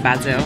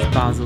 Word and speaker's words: Basel: we're heading to Basel I kept going it basil like Le and then I noticed everyone says Basel so that's how it's pronounced we're going to Basel on the train uh it's been a good